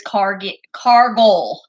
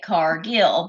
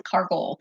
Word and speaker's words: Cargill: So our last name is Cargoll. Cargoll, like you are a car goal. Hey, Brian. But a lot of people say it Cargill because that's how it's spelled. Yes. So but Cargoll. It's Cargoll. I always tell the kids to pretend that they're a pirate and put the emphasis on the first syllable and not the.